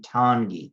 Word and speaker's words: Tanguy: on your own quote it's the number 2 followed by it rhymes with dawn of time and then it's like the ghee in geese 2 Tanguy and see this little